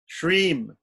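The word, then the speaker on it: श्रीं: The bija that goes before Shriye Namaha, we take Shri, which is the first syllable, Shri, first letter, and we add M to it. Shreem.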